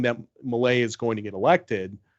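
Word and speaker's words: Milei: guy I don't know I'm going to pronounce his name wrong but it's Malay or Malai m-i-l-e-i this guy is like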